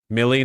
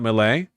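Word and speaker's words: Milley: Millie, not Malay.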